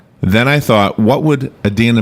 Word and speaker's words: Idina: UH-DEEN-AA, so it's Idina, Right.